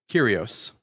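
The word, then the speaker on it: κύριος: Um, row iota sigma or curios pronounces a y.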